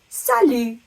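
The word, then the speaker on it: salut: tiny bit easier is the word Salo the T on the end is completely silent when you say it Sal word is a little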